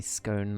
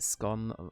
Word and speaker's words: scone: I say scone like rhymes with cone. Yeah. But scone that rhymes with gone feels more English to me.